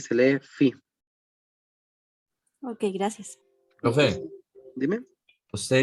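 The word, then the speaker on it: φ: Se escribe así y se lee phi.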